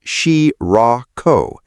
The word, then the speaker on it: Shirako: At 11:40 at night, the agency issued a level five heavy rain special warning for the town of Shirako, pronounced Shee-rah-ko, then extended it across roughly 20 municipalities, including Chiba City, Ichikawa, pronounced Ee-chee-kah-wah, and Sakura, pronounced Sakura.